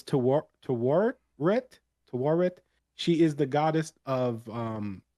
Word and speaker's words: Tawaret: you try to listen to the way it's pronounced, and it's not. But it's Tawaret.